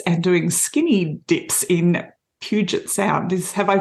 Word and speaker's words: Puget Sound: with her kids and doing skinny dips in Puget Sound. Have I pronounced that correctly?